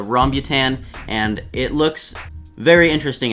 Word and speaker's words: rambutan: how to pronounce it i've been saying rambutane and all this stuff but yes it's the rhombutan and it looks very